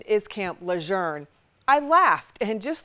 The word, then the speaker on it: Camp Lejeune: My father is a retired Marine who for years tried to tell me the correct pronunciation is Camp Learn.